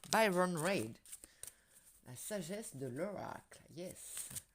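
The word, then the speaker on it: Baron-Reid: Baron Red, si je le prononce à la française. Byron Reid.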